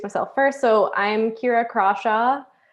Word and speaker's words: Crawshaw: So I'm Kira Crawshaw. Yes, you pronounce it with a hard C.